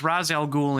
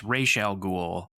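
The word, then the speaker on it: Ra's al Ghul: media I'm watching right it's razel ghoul in in the movies in the Animated Series it's rayel ghoul you know I don't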